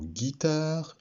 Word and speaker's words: guitare: Le mot guitare et le mot guêpe. Pour faire la syllabe Gui, nous avons rajouté une lettre muette, le U, ici.